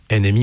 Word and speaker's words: NMY: NMI mais ça s'écrit NMY mais ça se prononce NMI.